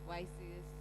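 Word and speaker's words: WSIS: I think many people pronounce it differently. Some of us say YSIS, whatever it is, but in full it's the World Summit on the Information Society.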